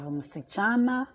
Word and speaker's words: msichana: Please take note of the pronunciation. Remember also that I said that you will not be in a hurry to pronounce the word. So the last but one syllable, so it is msi. As for the msi, you can pronounce it hurriedly. And then chana is where you wait.